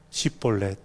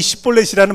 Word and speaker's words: 시볼렛: 그리고 건너는 사람들한테 말을 시킵니다. 발음해봐. 시볼렛. 에브라임 사람들이 이 시볼렛이라는 발음을 잘 못했다라는 거예요.